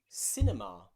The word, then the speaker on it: cinema: Before the letter I, some practice words are words like circle, circle, or cinema, cinema.